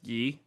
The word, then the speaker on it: Yi: They would say is Dewey. My name is pronounced like correctly is Yi. Y-I. Like that's how you would actually say it.